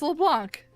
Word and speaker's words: Leblanc: No, it's LeBlanc. It's No, Blanc. it's LeBlanc. It's definitely Blanc. It's LeBlanc. Blanc. The C is silent.